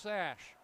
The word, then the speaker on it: Sash: I know what it's spelled on his nameplate, but it's pronounced Sash.